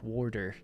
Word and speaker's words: water: Very hard T pron pronunciation. I'm a bit of a mumbler. Feel like Irish accents are. And uh yeah, I say water. So it sounds almost like w a r d e r. Water.